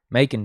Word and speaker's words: Macon: Macon, Georgia. That's how you pronounce it.